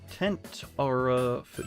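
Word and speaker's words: Tentarafoo: Tentarafu... Yeah, that's how you say it. Gotta remember, it's like a tent that you go camping with.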